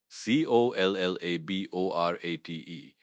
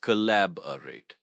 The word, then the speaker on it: collaborate: C O L L A B O R A T E. pronounced collaborate. Stress is on the second syllable. Lab.